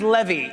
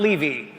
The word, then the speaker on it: Levy: it goes well tonight my name is pronounced Levy not Levy and if things go